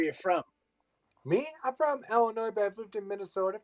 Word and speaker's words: Illinois: Well, I'm interested to learn about your Illinois. No, the S is silent.